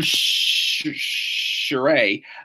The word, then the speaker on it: Shirai: Io Shirai, Io just like Ronnie James Dio, and Sherry ending in I. Say it like the ending of the word lie.